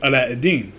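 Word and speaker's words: علاء الدين: pronunciation it's aladdin in arabic my name is pronounced as allah eddin so one of the things that i always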